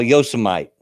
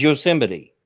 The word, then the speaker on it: Yosemite: a little town that they call yo so might Yosemite it is Yosemite but they call it